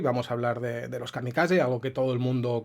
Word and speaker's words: kamikaze: nuestro idioma, aunque bueno, en castellano normalmente lo pronunciamos kamikaze, marcando la Z esta castellana, y en japonés sería kamikaze, como en catalán, por ejemplo.